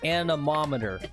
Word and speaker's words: anemometer: I will spend the $15 for Lex to use a, and he phonetically put it out for me, anemometer.